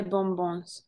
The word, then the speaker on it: bonbons: tu les aimes d'accord en général on ne prononce le S à la fin pour le reste excellent oui pour insister c'est à dire moi j'aime les bonbons et toi tu les